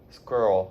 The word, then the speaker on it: squirrel: Squirrel. Okay, so let me divide squirrel up into 2 syllables for you. Squirrel. Squirrel.